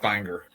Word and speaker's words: Bangor: Bangor in Maine, but it's actually pronounced Bangor.